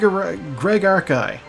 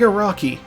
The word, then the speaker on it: Araki: Is it Arki or Araki? I gotta look that up real quick. Yeah, Greg Araki. Like, you know, spelled like the guy who does JoJo's, but it's not him.